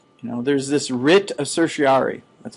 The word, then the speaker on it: certiorari: THERE IS THIS WRIT OF CERTIORARI.